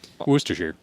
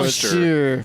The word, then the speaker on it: Worcestershire: Okay, it says the first syllable is woo. Woo! So there's no R there.